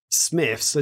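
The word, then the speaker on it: Smyths: but today she sent me a message going smith so smith's is like a toy shop slash they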